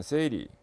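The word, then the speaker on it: 整理: 일본에서 생겼기 때문에 OS로 발음되는데, 일본 발음을 통해서 OS를 보면 정리는 세이리, 정돈, 세이돈, 청소, 세이소, 청결, 세이게츠, 그 다음에 습관화, 시적게 해서 5가지 OS 이렇게 됩니다.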